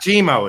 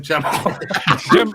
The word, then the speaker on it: Gemmo: Not Gmo. It's goddamn Gemmo.